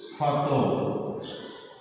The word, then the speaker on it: ক্ষত: তাহলে এর উচ্চারণ হবে ক্ষত বয়সী কবি ক্ষত, এটা হবে এর উচ্চারণ। তাহলে আমরা ক্ষীয়র ক্ষেত্রে বলতে পারি যে ক্ষীয় যদি ক্ষীয়র উচ্চারণ মূলত খ যোগ খ, কিন্তু শব্দের শুরুতে যদি ক্ষীয় থাকে সেক্ষেত্রে শুধু খ উচ্চারিত হবে, কটি আর উচ্চারিত হবে না।